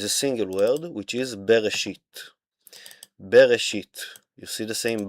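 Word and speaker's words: בראשית: In the beginning, God created will be in Hebrew Here for your pronunciation, bereshit bara Elohim.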